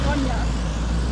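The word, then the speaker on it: Ronja: Ronya.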